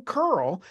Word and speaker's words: Kearl: today I got curl and I'm having to pronounce it like curling up in Canada because he's coming from Calgary today thank you for